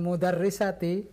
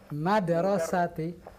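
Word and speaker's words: مدرسة: Iya, bukan mudarrisati, tapi madrasati. Madrasati. Iya, bedanya apa, Pak Hasan Basri? Mudarrisah dengan madrasah? Madrasati sekolah Ustaz.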